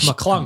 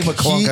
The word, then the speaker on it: McClung: Oh, Mac McClung. Mac McClung. I got his name wrong. You said Max. I was saying Mac. McClunk.